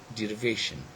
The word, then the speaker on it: derivation: so it becomes what derivation now in this word derivation derivation so this shun is actually something which is stressed then we've got ik